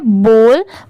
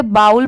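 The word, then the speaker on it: bowl: एल S false जैसे बी ओ डब्लू एल इसे हम क्या पढ़ते हैं बोल बहुत सारे लोग इसे बाउल पढ़ते हैं बट वो रंग होता है जैसे अगर ये बी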